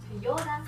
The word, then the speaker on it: Feijoada: How do you spell it? F-E-I. F-E-I-J-O-A-D-A. Okay, so you said, I have eaten. Feijoada.